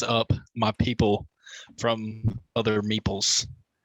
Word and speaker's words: meeple: go back to the meeples thing what the is a meeple it just rhymes with people okay um yo yo